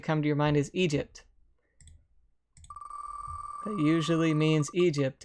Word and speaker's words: Egypt: Whenever I saw it, I would say Eggy. But it's not. It's not even Eg. It's Egypt.